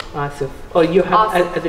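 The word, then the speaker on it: آسف: How do you say sorry in Arabic? Asif.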